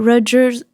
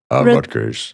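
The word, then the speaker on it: Rutgers: And uh I read that you uh went to Redgers Redgars, how do you say it? Rudgers.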